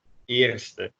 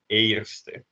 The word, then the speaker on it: eerste: The other two vowels that do this are the A, so the first in Dutch, you would say eerste. You wouldn't say eerste because of the R again.